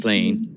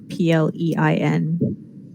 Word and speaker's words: Plein: Don't Ever call him Mr. Plain. Wonderful. What? Any particular reason why nobody calls him Mr. Plain? Is that his father? No, his last name is Plein. And everybody mispronounces it.